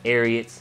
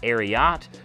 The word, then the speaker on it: Ariat: So that's how you know how it's pronounced as well, because a lot of people out there will pronounce it Ariat, but it is inspired by the Secretariat racehorse, and just the last part of the name they took for the name Ariat.